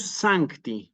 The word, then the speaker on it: sancti: espíritus sino espíritus sí espíritus sancti nuevamente Santi una palabra bisílaba sí que como es bisílaba recordamos se acentúa siempre en la penúltima sílaba Aunque el Misal no lo ponga ni me lo diga s y es muy interesante cuando se puede escuchar esta esta c aquí en Santi no es Santi sino sancti sancti y